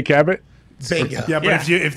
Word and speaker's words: Cabot: kay like that in french is cabo yeah that is clearly what mary kay cabot yeah but if you